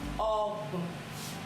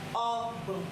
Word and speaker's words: Ọgbọ̀n: Ọgbọ̀n. Ọgbọ̀n. 2 syllables. Ọgbọ̀n.